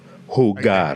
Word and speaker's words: jugar: Can you see that g? It's a really hard G.